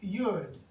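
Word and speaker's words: יוד: pictograph, and it looks like this, and it's pronounced Yud.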